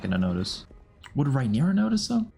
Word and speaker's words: Rhaenyra: Would Rhaenyra notice though? I think I'm still saying her name wrong. Rhaenyra, that's how Damon said it.